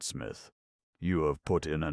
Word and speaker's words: Psmith: My name perhaps I ought to reveal to you, is Smith. The P is silent, and until very recently I lived in affluence, not far from the village of much Middlefold in this county.